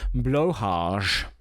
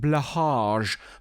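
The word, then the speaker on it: Blåhaj: stylized as a blah Swedish pronunciation is blar blar blue shark qually anglicized blage blage or blage is a plush toy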